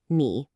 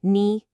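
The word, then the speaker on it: 你: A really common trap for beginners is that third tone on ni. Knee. It's not a flat sound like ni. And it's definitely not a question like ni.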